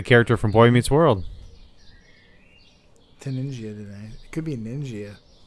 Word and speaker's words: Taningia: And then the genus is Tangia or Taningia. Yeah, okay, if you want to hit the hard G.